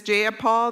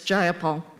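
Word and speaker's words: Jayapal: Do do you agree with Miss Japal that there was no takeover? It was just If you're going to say my name, please say it right. It's Gyipol. Gipol.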